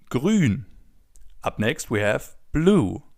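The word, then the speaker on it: grün: As you already know, the oo with the two dots on top is pronounced oo as in grun.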